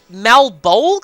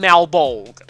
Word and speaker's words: Malebolge: Malebolge, I think is how you would pronounce this.